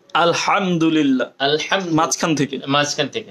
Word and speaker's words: আলহামদুলিল্লাহ: না উচ্চারণ করব আলহাম আলহামদুলিল্লাহি রব্বিল আলামিন হায়ের জায়গায় হা উচ্চারণ হলে অর্থটা চেঞ্জ হয়ে যাবে কুফুরি অর্থ হয়ে যাবে আল্লাহ তাআলা আমাদেরকে বুঝার